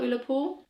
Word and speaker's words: Ullapool: Ullapool as well, Ullapool.